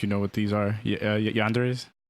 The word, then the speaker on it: yandere: Yanderes?